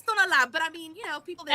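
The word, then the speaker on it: Tonalá: talking about how everybody's like the Tonala, and how people say it, but it's like Tonala. Tonala. Yeah. Yes. Yeah. It's not Tanala. That's Right. when you talk about Tonala. Tanala. That's Right. it's Tonala, but I mean, people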